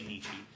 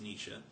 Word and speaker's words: Nietzsche: was taught to say michi so i say nichi but it is pronounced nietzsche um nietzsche said that uh i believe it